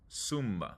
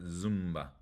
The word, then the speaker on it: Zumba: a vow cool SBA the Z or the SAT sounds like an S sumba not Zumba sumba all right let's practice